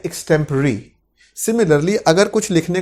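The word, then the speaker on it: extempore: एक्सटेम्पोर गलती से बोल देते हैं इसको हिंदुस्तान के अंदर, इस तरह की प्रोनाउंसिएशन कर देते हैं, पर एक्चुअल प्रोनाउंसिएशन इसकी है एक्सटेम्पररी।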